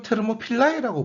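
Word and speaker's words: Θερμοπύλαι: 그리스어로 테르모필라이라고 보통 발음하는데요.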